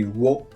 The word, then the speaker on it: を: is back in conversations it probably sounds like oh but actually in my heart I always say whoa but my mouse probably automatically says all in conversations anyway what I want